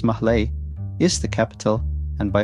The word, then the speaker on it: Malé: Malé, pronounced Mahlé, is the capital and by far the largest